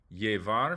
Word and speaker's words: llevar: Llevar, fallar. Okay, the double L sounds like an English Y, but in some regions and countries, it can sound like a J or a she.